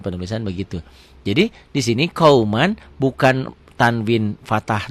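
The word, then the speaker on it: قومًا: Tulisan dan bacaan beda. Ditulisnya ada n-nya, dibacanya n-nya tambah g jadi eng.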